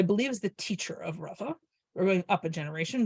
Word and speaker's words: Rava: The convention is that the guy whose name is spelled with a hey, who's the teacher, is pronounced Rabba with a bet, and the guy whose name is spelled with an aleph, who's the student, is Rava.